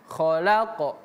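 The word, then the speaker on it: خَلَقْنَاهُمْ: Kalau huruf qf itu pemirsa, kalau dia sukun atau mati bacaannya maka dia memiliki sifat qalqalah. Jadi bacanya khalaq.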